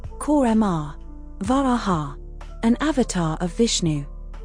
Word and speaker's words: Kurma: Pronounced, Korma.